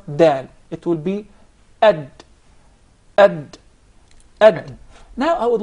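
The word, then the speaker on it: د: Ad. Ad. Ad is from just behind the teeth. Okay. Does the tongue have anything to do with the pronunciation of the Dal? Yeah, Definitely. Which part of the tongue?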